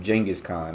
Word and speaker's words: Genghis Khan: and so his that you pronounce his name jenus Khan not genas okay that's that's the